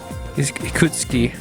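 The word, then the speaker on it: Ikutsuki: thing in the morning but it could suki he could ski okay there we go that's how you pronounce it but he could skis a good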